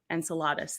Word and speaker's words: Enceladus: water gushing out of uh how do you pronounce that enceladas Enceladus there you go yep it's a moon in